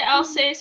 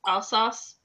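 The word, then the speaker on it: Alsace: yes all sauce region which I want to say else but I think that's wrong I believe it's all sauce yeah I I I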